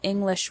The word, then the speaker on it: English: You probably already know that individual English words have stress. For example, the word English has the stress on the first syllable, ing.